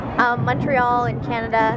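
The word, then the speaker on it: Montréal: is Montreal mhm and how English people would say it Montreal and how they say it here is like MO is that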